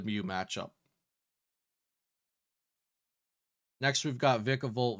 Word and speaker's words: Vikavolt: Also, I believe it's pronounced Vikavolt, but it's hard to break the habit of incorrect pronunciations.